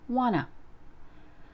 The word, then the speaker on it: wanna: want to be healthier want to is shortened to wanna I want to write